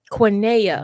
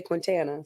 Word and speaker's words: Quniana: Okay, give me the pronunciation one more time. Quinea. Quiniana Bam. You got Quiniana. You're exactly right. I wanted to put an S, so I'm See not there? gonna. I'm not gonna. You ain't do butcher the T. Usually people say Quintana, so it's cool.